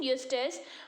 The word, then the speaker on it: Eustace: What is the pronunciation? Eustace.